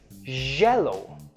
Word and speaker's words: jello: Another common confusion is the Y and the J. When you're talking about this color, say it like this, yellow. When you're talking about the dessert, say it like this, jello. Can you hear the vibration in my J's and the soft, smooth sound in my yellows?